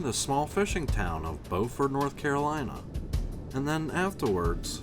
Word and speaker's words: Beaufort: foreign North Carolina not to be confused with Beaufort South Carolina here they pronounce it Beaufort spelled the same but pronounced differently so we're